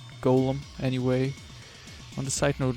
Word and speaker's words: Golem: much to his surprise this ends up being pronounced like Gollum anyway on the side